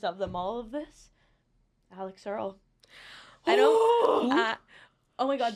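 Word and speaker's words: Alix Earle: Alex Earl.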